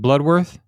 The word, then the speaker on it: Bloodworth: So we got and forgive me if I mispronounce it, but is it Bloodworth? Yes, that's correct. So Larry Bloodworth.